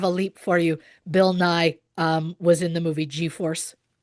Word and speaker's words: Nighy: the great Bill Nye, which I always thought was Nighy, but from my understanding, it is pronounced Nye.